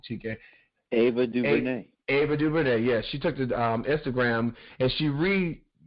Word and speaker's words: Ava DuVernay: So, filmmaker, make sure I always say her name wrong, Chike. Ava DuVernay. Ava DuVernay, yes.